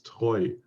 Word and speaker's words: Treu: In terms of pronunciation, Cornmeal usually tends to give them German names, and it's not true, it's Treu.